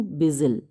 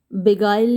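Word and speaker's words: beguile: धोखा देने के लिए, ये बिगाइल भी हो सकता है, इसको टू बिगाइल भी बोलते हैं, बिगाइल ही सही प्रोनाउंसिएशन है इसका।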